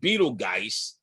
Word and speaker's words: Betelgeuse: So in the hunter's shoulder, there's a star called Betelgeuse. It looks like Betelgeuse, but it is pronounced Betelgeuse, I'm told.